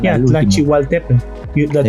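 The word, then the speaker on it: Tlachihualtépetl: un poco la L, la pronunciación Yeah, al último. Tlachihualtepan.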